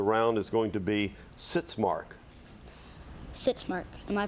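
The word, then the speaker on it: sitzmark: word for the round is going to be sits mark sit Mark am I pronouncing it correctly yes sits Mark s i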